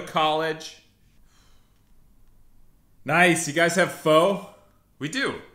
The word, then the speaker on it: pho: Nice, you guys have pho? We do, it's pronounced pho.